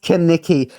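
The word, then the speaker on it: Kenickie: Rizzo, George Michelades, who's going to be playing Kaniki. That's how you pronounce it. It's pronounced Kaniki.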